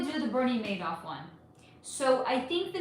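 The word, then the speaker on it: Madoff: I want to do Bernie Maid off next. Okay. Bernie Madd, but I pronounce it Bernie Moff.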